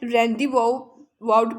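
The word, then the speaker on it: rendezvous: रेंडस vote, इसको वैसे रैंडी वाउट पढ़ते हैं, रैंडी वाउट, तो आप इसका जी अगर पढ़ना चाहे स्पेलिंग याद करने के लिए तो कर सकते हैं। तो रेंडिवोट कहते हैं एक अड्डा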